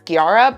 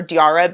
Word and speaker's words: Diarrha: I have seen some pronunciations of her name as Giara, but I'm going to just call her Diara because that's how I've seen she herself pronounce it and other people pronounce it.